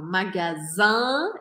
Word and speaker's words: magasin: Quando eu falo magasin e deixo minha boca aberta, não falo N no final, isso significa uma loja. Quando eu falo magazine e eu pronuncio esse N no final, isso significa uma revista.